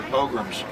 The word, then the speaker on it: pogrom: That's 600 years ago in England or France, they had their pogroms.